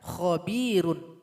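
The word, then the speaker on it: خبير: Maka ketika membacanya mesti ditipiskan. Khabir. Ini juga mad arid lis sukun. Bisa panjang 2 sampai 6 harokat. Khabir. Nah, jadi cukup lidah saja yang bermain, jangan dibantu dengan bibir.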